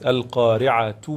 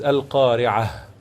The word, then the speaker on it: القارعة: Whenever that we are going to have the two verses to be continuous, then we are going to tell it or to say it like this. Al-Qari'atu mal-Qari'atu wa ma adraka mal-Qari'atu yawma yakun. But if you are going to stop at the end of each verse, then we should say ha, which is Al-Qari'ah.